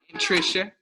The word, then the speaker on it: Anntricia: So this is Anntricia, and I did pronounce it properly, correct that time, correct? Anntricia.